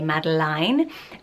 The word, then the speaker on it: Madeline: put on screen, and it is Madeline, but lots of people also say Madeline. I think it is a French way of saying it's often Madeline as well, no matter how you spell it. So if you do love this name, just be aware that this spelling is Madeline.